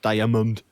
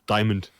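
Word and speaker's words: diamond: that word so weirdly it's not diamund it's Dimond so uh Bastion ly want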